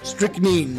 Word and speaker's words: strychnine: Strychnine, that's how you pronounce it. Strychnine? Okay. Strychnine.